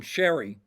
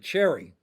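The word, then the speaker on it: Cheri: actually pronounced her name Sherry because for decades I pronounced it Cherry. Okay. But at least the way it looks it looks like Cherry to me.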